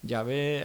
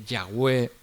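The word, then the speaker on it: Yahweh: cuatro sílabas y que la reina valera dice Jehová y otras dicen yahvé algunos expertos dicen que yahwe yo soy el que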